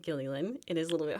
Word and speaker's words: Gilleylen: So, um, hello everyone and I appreciate that you said my name correctly, Gilly. It is a little bit hard to pronounce.